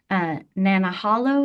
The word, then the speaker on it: Nanahalo: Young, do you know who Karen, and I might say this name wrong, Nanahalo is? Nenahlo? I do. Okay. How would I appropriately pronounce that? As far as I know, you pronounced it perfectly.